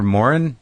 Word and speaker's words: Moran: You're Moran?